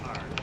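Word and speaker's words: 二: Yeah, so that's 2 in Chinese, but in Chinese it's pronounced as R, or kind of like R.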